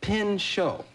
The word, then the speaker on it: Pinchot: I guess, I know how you spell it. easy. What do you think the last part is? Pinchot.